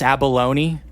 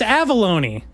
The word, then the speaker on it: Avellone: You call him Chris Abalone? Chris Avellone. That's how you pronounce his name.